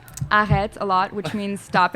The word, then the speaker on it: arrête: the Parisian way is like the prolongating the E at the end. Arrête.